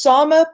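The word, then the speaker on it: Sámi: So UN Watchdog says Finland violated the indigenous rights of Sama. How did they do that? If you look right here, it says they breached the political rights of its Sama it's pronounced Sama population.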